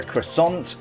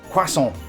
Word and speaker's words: croissant: pie we got a croissant yeah that's how we pronounce it croissant not oh no no no that's how the Americans pronounce it uh it's Quant not croissant anyway I set my